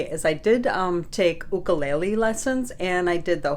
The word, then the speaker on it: ukulele: me and Mark two it's ukulele ukulele you didn't go to the Hawaiian language class you butchered it in all right so